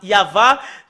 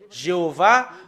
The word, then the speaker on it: Yahvah: sont enlevés de l'original normalement ça doit être yava que qu'on doit le prononcer bah ça a changé en y avait Jéhovah ou you B alors que ce sont des noms qui n'ont pas été prononcés par les Juifs mais ce qui a été prononcé par les Juifs c'est yava et tout ce qui